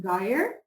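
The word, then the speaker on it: gyre: two words Sly the make the G hard in Gaia and Gimbal and pronounce wrath to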